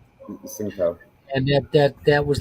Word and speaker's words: Tsingtao: Last week I had the Tea Tsingtao. Actually, it's pronounced Shangtao, Singtao.